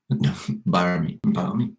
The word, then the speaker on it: balmy: Balmy. Never heard of it. It's mildly warm. Pleasantly warm. It's a nice word. Australians wouldn't pronounce the L though.